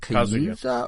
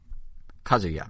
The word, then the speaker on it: Kazuya: So we had a direct where they showed, is it, how you pronounce it? Is it Kayuza or Kayuza? Kazuya, okay.